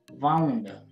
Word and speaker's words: wound: तो वो जो वाइंड है ना, उसकी दूसरी फॉर्म को हम पढ़ेंगे, तीसरी फॉर्म को भी वाउंड, यानी उसके पास्ट पार्टिसिपल को वाउंड पढ़ेंगे हम।